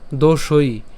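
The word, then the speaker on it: দোষৈঃ: হবে একটু খেয়াল করি প্রথম থেকে দোষই কেন দোষই কারণ এখানে কি আছে ঐকার আছে সেজন্য তার উচ্চারণ কেমন দোষই একই রকম ভাবে পরেরটাও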